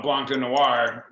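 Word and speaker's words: Blanc de Noirs: So, and other people call it Blanc de Noir because it's at least it sounds French, and the S is silent.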